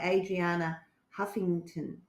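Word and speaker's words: Arianna Huffington: Actually, a book I found in an op shop up the road is by Adriana Huffington, who owns Huffington Post.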